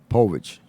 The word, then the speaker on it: Povich: Povich, yeah.